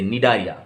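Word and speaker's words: Cnidaria: C है, C का pronunciation silent रहेगा, आप प्रोनाउंस कहाँ से करोगे, N से, निडारिया, राइट।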